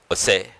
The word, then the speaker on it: Hosea: If you look at Hosea, that's how you pronounce in English, Hosea, Hosea in Telugu.